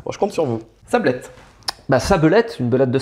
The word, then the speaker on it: Sabelette: dire, pour être correct, il faudrait être une sabelette et l'autre un sablero. Il faut virer le E du milieu parce qu'il faut revenir sur le sable. Sablero, Sablette, moi je les prononce comme ça.